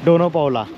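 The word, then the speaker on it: Dona Paula: मित्रांनो हेच ते गोव्यामधलं सर्वात सुंदर आणि मोस्ट अट्रॅक्टिव्ह प्लेस असलेल डोनो पावला डोना पावला थोड प्रोनन्सिएशन मध्ये गडबड होते पण ठीक आहे सो मित्रांनो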